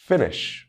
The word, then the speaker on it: finish: on the second syllable as always there are exceptions finish hurry copy visit he can hear the stress falling on the first syllable in these words rule number three this